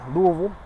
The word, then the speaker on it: Louisville: far from here in Louisville Kentucky that's how you say it Louisville and the majority of